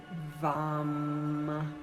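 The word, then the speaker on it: वं: And the one syllable Sanskrit mantra is vam with a V.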